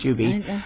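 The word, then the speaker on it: Tubi: look I think it out CD but it's pronounced to be odd that it's played with commercials but it's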